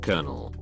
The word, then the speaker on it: colonel: a 28-year old guy pronounced Colonel as it was spelled as opposed to how it's properly pronounced like Colonel to make matters worse